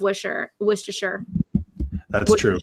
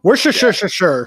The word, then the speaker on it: Worcestershire: they never put enough wisher Worcestershire how do you say that I've never said yeah there you go we're sure sure sure sure yeah I live about